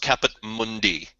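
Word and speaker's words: Caput Mundi: its own definition Mundy yeah well I mean it's Latin so it's pronounced capit Mundi we can't use th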